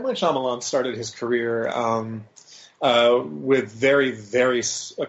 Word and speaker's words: Shyamalan: And am I pronouncing his name correctly? Is that Shyamalan?